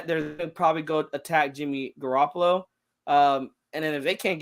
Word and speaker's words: Garoppolo: Jimmy Opolo ain't a guy, and we know I know I'm saying his name wrong, but that's how he says it, and it's like the funniest shit ever. Jimmy It's the Garoppolo.